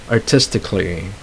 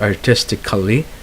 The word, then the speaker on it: artistically: And then when you have these adverbs here that end with lly, like ally, so you don't have to pronounce the letter A there. So you say artistically, not artistically. All right, so artistically, musically, logically. Okay, so adverbs like that you do not pronounce the A.